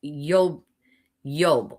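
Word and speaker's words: איוב: Now the the the name Job in Hebrew is Yob Yob Y O B which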